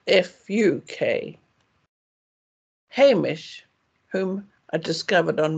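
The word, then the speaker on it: vak: English speakers for example V is always pronounced as f and the short a vowel is said as in ah pass so the word for a subject such as geography is v a k but pronounced f u k Hamish whom I discovered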